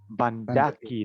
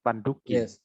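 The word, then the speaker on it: bandhakī: Bandaki, not Banduki.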